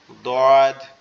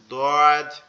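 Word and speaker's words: ضاد: আর যেটা নোক্তা সহ এটাকে আমরা একটু মোটা করে বলবো দদ, দদ, দদ।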